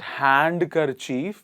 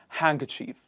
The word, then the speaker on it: handkerchief: is it D silent Wednesday handkerchief handkerchief not hand car Chief it is handkerchief what is it handkerchief pledge and finally Grudge